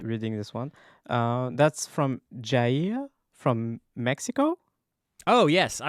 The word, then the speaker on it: Jair: They said, my name is Jair, pronounced as in yeah and ear. So Jair.